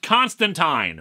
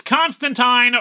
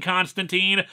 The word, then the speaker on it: Constantine: say it is pronounced Constantine they even put it in the comic itself that it's Constantine rhymes with wine and people were very